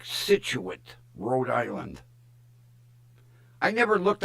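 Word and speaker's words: Scituate: If If you look at it, it's spelled weird. But she says it's pronounced like Situit, Rhode Island.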